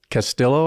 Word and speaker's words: Castillo: say things differently so I actually pronounce it Castillo I pronounce the El yeah uh my Heritage is Filipino Hawaiian and so in Hawaii we were just I was just ra they said the L so I've always said it oh interesting except when